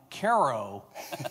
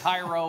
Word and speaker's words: Cairo: Uh thank you for correctly pronouncing my hometown Caro, Illinois correctly. So many people get Cairo or Cairo or whatever.